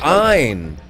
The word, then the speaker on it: Ayn: country noted for this kind of government one pronounce her name Ein do you object to the Democratic process I